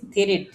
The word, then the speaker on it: three: তারপরে দেখেন এটার উচ্চারণ কি হবে বলেন তো? এখানে যদি আমি অশুদ্ধভাবে বলি থ্রিট হবে, থ্রিট, কিন্তু এটার যদি আমি অর্থ বলে দেই, এটার হচ্ছে অর্থ হচ্ছে এটা।